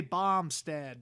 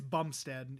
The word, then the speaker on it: Bumstead: It always sounded like Bombstack for some reason. So Bum? Yeah, it's Bumstead is how it's spelled at least, but it might be because there's Baum is usually Baum, but it's just Bumstead.